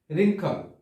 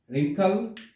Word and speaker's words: wrinkle: তারপর হচ্ছে রিঙ্কল। রিঙ্কল, এখানেও কিন্তু ডাব্লিউ শব্দের উচ্চারণ হয়নি, ডাব্লিউ অক্ষরের উচ্চারণ হয়নি।